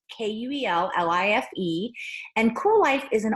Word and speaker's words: Kuel Life: And that is spelled all cattywampus with a K, so it's Kuellife.